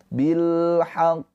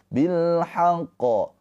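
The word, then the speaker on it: بالحق: Ini qo ya bertasydid hurufnya huruf qalqalah berhenti. Maka ini mantul ya dipantulkan qalqalahnya. Qalqalah kubro besar. qalqalahnya qalqalah besar kubra itu. Maka ini ketika berhenti karena dia ada tasdid ditahan dulu jangan langsung bilhaqqo. Nah ditahan dulu ada tasdidnya haqqo gitu ya. Ditahan dulu karena ada tasdid.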